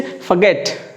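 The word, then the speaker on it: forget: 4 दरवाजे है ना तो are will be silent here and यू से फॉरगेट, फॉरगेट, फॉरगेट about it, है ना, फॉरगेट अबाउट इट, राइट।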